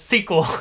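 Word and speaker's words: SQL: hopefully you're doing well i prefer to pronounce this as sequel that's um funny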